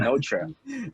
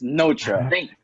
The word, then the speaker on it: Notre: Yeah, so we asked last night how they pronounce their name. So it's like Notre. Just to be sure. Just to be sure, just so we're not bringing it. It's Notre. Thank God they replied.